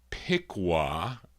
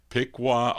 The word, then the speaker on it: Piqua: Uh, and so let's open up the vocal portion now uh, with this group from Piqua. I was saying it wrong. Thank you, Jack Paralle. Picqua, Ohio. I'm talking about the Mills brothers.